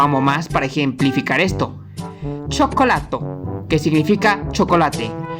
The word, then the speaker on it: cioccolato: Nótese que el primer sonido suena como una che porque está seguida por una vocal, mientras que en el centro la C se pronuncia normal porque le sigue una letra O.